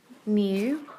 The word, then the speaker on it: mu: Mu, it looks like like a fancy U, pronounced mu.